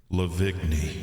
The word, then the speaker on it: Lavigne: It's pronounced Lavigne. It's this French Canadian counterpart. No, it's like baloney. Lavoni. It's Avril with a cigarette. It's just like baloney. Oh shit. Avril Lavoni. Avril Lavigne.